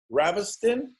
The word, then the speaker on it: Ravestijn: just we can the Jay is silent so you can call